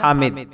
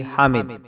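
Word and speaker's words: Hamid: हातिम अगला नाम है हामिद कुछ लोग इसको हाम के तलफ्फुज से भी अदा करते हैं जो दुरुस्त नहीं है इसका मानी है तारीफ करने वाला spelling H ए एम आईडी हामिद अगला नाम है हाकिम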